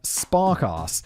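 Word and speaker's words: Sparkasse: was featured on a major podcast sponsored by spark ass a major German bank I know spark ass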